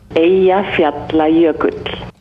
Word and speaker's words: Eyjafjallajökull: Eyjafjallajökull.